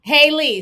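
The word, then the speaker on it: Halle Bailey: Okay, Haley. So I'm saying it right now. Okay, good. Child. Y'all done wrote the pronunciation like literally 50 different ways.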